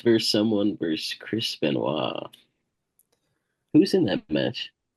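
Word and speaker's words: Benoit: Triple H vers someone verse Chris Benois. Who's in that match? They pronounce it Benoy.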